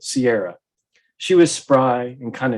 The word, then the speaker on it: Kiara: She renamed herself Kiara, pronouncing it Sierra.